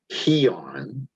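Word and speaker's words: αἰών: The second word is AION, but actually according to Strong's it should be pronounced HEON, and it is world as a period of time.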